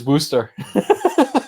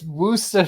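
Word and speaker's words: Worcestershire: Gloucester the one thing the one who probably messes with every American ever is is booster Worcester oh yeah yeah work worser tire sauce exactly exactly there you go it's booster sauce 1c but I know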